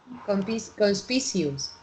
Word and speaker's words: conspicuous: But you pronounce it like conspicuous. Yeah. Okay. Yeah. It's just like continuous.